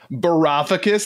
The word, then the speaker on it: Varoufakis: According to Giannis Varoufakis, how do you pronounce that? Varoufakis. Varoufakis, that's really how you pronounce.